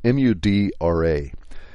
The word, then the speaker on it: mudra: And if you want to look it up, it's spelled M-U-D-R-A.